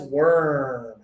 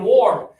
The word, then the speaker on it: worm: No, it sounds like you're saying warm. This one's got to be like worm and early.